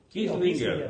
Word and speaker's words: Kislinger: Kislinger, no es Kissinger. No es Kislinger. Kislinger. Así es.